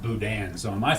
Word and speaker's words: boudin: spelled it b-o-u-d-i-n but I always heard it pronounced Boudin so am I pronouncing it wrong or I'm